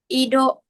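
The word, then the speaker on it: 移動: Sama ido. Ido ya. Kalau iya di akhir harus agak panjang ya.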